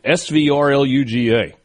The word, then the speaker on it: Svrluga: How do you pronounce that name? Svrluga.